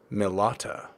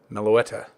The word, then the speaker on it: Meloetta: Milata. No, I did not say that right. Meloetta.